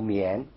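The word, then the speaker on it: 宀: 旁部首，当然宝盖正式的读音读绵，但是呢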